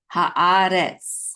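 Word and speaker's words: הארץ: with a kamatz, which says ha, and then aleph with a kamatz, which says a. So ha-a. And then we have a resh with its segol, which says re, and then tsadi together. The syllable says retz, okay.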